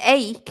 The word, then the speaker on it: ache: age yeah and an ache if people don't know it's a strange pronunciation ache you know and the spelling is a bit strange isn't it an ache